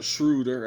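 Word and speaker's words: Schröder: Um Shrader has been absolutely or Shrudder as they pronounce it has been absolutely outstanding.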